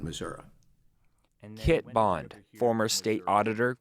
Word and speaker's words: Missouri: That's the way I was brought up, and the people around me called it Missouri, and it always seemed more comfortable to me to call it Missouri.